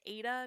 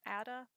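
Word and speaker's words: Aida: coupon from michaels uh apparently the cloth is pronounced aydah not ada okay i'm gonna do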